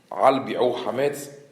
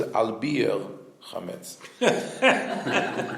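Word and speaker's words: על ביעור חמץ: You know that in the Ashkenazi pronunciation, the bracha, the bracha that you say for burning the hametz, looking for the hametz, al bi'u hametz, but in the Ashkenazi pronunciation is al bir hametz.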